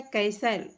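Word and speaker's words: castle: इसके बाद है कैसल, कैसल में आपका टी साइलेंट है।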